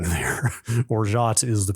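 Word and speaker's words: orgeat: purchased the bag to make orat I believe is how you say that o r g e a t I would call that Orit is is the spelling there orat is the pronunciation that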